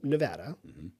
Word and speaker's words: Nevada: Since you're from Nevada, and thank you for saying it right.